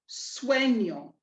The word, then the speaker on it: sueño: Remember that the tilde gives us that invisible I sound coming after the N. Swe, nyo, swe, nyo, sueño, sueño. And that's rule 3 in a nutshell.